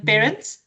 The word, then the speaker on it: Perrins: then um I would like to welcome parents. am I pronouncing your surname correctly?